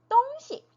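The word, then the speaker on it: 东西: 똥시 발음을 해 주지만 여기서처럼 물건이라는 의미로 쓸 때는네 경성으로 읽어 줍니다 성조가 없어요 그래서 똥 똥시 똥시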